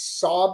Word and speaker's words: Xob: It's XOB. It's Sob is how we pronounce it.